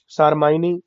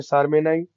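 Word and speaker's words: Propionibacterium shermanii: देखिए अलग अलग लोग उसको प्रोनाउंसिएट करते हैं, कुछ लोग बोलते हैं सारमाइनी, कुछ लोग बोलते हैं सार्मेनाई।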